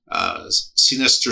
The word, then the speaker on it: Sinister: Keller also has written Hijinks and Hearsay, Sinister Stories from Minnesota's Pop Life. So I pronounce it Sinister because it's spelled scene, not sinister.